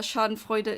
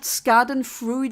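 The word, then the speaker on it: Schadenfreude: you laugh at someone El someone's pain yeah Shard Fuda is what I said I know some that is the connect pronunciation it's not scen fru or however Americans say it which I don't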